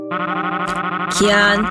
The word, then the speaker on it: Kian: No, I forgot, Kian, pronounce like the pepper.